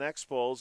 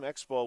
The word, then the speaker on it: Expo: Phillies and Expose.